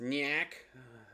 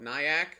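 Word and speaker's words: Nyack: n y a c k so it is pronounced niak some people call it nyak or is it NY a k either way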